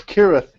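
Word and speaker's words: Cirth: he still holds that no one will ever pronounce kirth right it appears as kirth with a K in his map as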